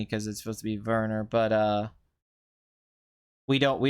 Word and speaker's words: Werner: but that's life hurts you know it's like Verner Herzog I know a lot of people say Werner although I kind of noise me because it supposed to be Verner but uh we don't we don't do that